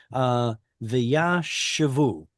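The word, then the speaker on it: וישבו: I just happen to know from other places in the Bible that the stress should go on the ooh vowel right there.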